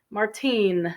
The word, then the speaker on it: Martine: throwing away old newspapers Martine this is a feminine spelling and pronunciation Martin is the male pronunciation so old newspapers it's